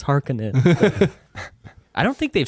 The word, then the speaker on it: Harkonnen: even with this movie when they say her conan and i'm like that's not it it's hearkening i don't think they've